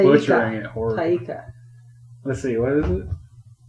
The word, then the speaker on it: Taika: Taiki. No, and I might be wrong. No, you're wrong. Okay. You're Taika. butchering it horribly. Taika.